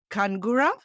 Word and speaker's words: Khungara: is it I'm gonna I'm gonna attempt to pronounce this last name is it kangura that was beautifully done beauti yeah is like